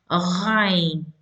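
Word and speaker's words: غين: Ghain. In order to pronounce this letter, you need to put a hamza and pronounce the letter sukun on the letter ah. So that's how you pronounce the ghain letter.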